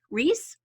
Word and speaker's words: Rhys: It's Rhys Reese.